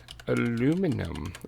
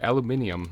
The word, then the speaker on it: aluminium: that we tell this thing that it needs aluminum. Or aluminium. I know, it's weird, okay? It does actually spell it aluminum the American way here.